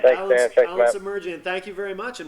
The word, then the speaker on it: Semerdjian: Yep, Semerdjian.